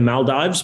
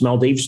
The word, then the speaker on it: Maldives: in um in the maldives maldives depending on where you're from how you want to pronounce it and we had our